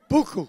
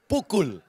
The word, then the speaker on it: pukul: Buku. Pukul, ya. It's like buku, but Pukul.